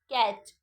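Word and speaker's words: catch: ए टी सी एच कैच कैच में T silent है कैच का मतलब होता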